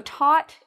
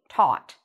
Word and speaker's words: taught: some students english so taught is the past tense of teach and it rhymes with thought so if i wanted